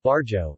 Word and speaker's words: barrio: Barrio, Spanish pronunciation, barjo, is a Spanish word meaning neighborhood.